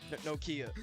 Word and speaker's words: Nokia: Nokia. That's how you pronounce it.